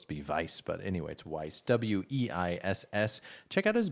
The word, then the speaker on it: Weiss: has a website or something yeah anyway Brett vice or Weiss's Weiss sorry I'm used to sorry